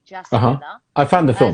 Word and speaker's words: Jasmila: So Yasmila is spelled with a J. Jasmila.